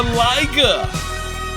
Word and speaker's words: Liga: We have a Liga that rhymes with tiger.